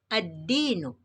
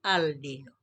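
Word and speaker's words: الدين: Dinun dimasuki dengan alif lam atau al, maka dibaca ad-dinu, bukan al-dinu.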